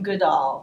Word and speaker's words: Goodall: Yes, I'm thinking of Addison Goodall. Mr. Goodall, yes. In 1899, Mr. Goodall, I should pronounce Goodell.